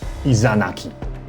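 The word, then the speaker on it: Izanagi: 大家注意，男神伊耶纳奇的正确发音是 Izanaki，而苏美尔的神叫做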